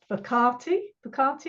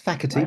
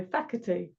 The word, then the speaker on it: Facherty: Alison Marson and I'm here with Phantom bti bti is that how you pronounce it why not it's faky but close enough F soorry faky and today we're going to talk about our